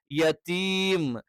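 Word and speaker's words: يتيم: യത്തീം യത്തീം ആയി പോകരുത് യെ എന്ന് പറഞ്ഞാൽ ഉച്ചാരണം തെറ്റാണ് യ എന്ന് പറയുന്ന അക്ഷരത്തിൻറെ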